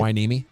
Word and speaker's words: Hueneme: Hueneme.